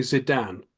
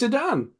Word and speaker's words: Zidane: because okay cu cu um cuz I say zidan from Final Fantasy 9 and that's because of